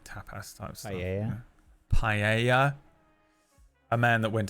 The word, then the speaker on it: paella: I think I normally I like I would normally get like a pella or something or like tapass type stuff. Paella.